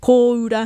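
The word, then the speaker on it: kōura: Koura has a macron on that first O.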